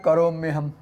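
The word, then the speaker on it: करोम्यहम्: And when you bring together the e sound and a sound and pronounce it rapidly, iya, it becomes ya, like the ya in yesterday. So then we have karomyaham.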